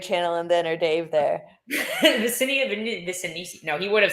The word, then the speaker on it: Vinicius: So I feel like this was for me, I thought Vinicius, I would say his name wrong. It's Vinicius.